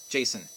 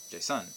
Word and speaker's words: Jason: A side note, most first names are trochees. For example, Jason is a trochee. You would not pronounce that as an IM, Jason, unless you wanted to be weird, right?